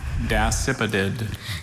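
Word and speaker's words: dasypodid: May I have, are there any alternate pronunciations? Just the one, dacipidid.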